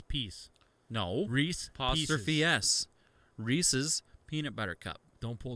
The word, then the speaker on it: Reese's: rhys is somebody's name it's reese's like ownership apostrophe s peanut butter cup so